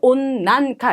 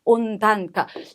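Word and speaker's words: 温暖化: 온난카 아니고 온단카 여기서도 난이라고 읽혀진다는 것까지 꼭 받으시면 좋겠고요.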